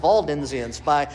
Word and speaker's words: Waldensians: There were others like the Waldensians, and rightly pronounced Waldensians, by Peter Valdo, who stood against, as a priest early on, he stood against priesthood.